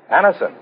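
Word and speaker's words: Anacin: Get a handy box of Anison tablets at your druggist tonight. For most effective relief, use only as directed. It's spelled A-N-A-C-I-N. Anison.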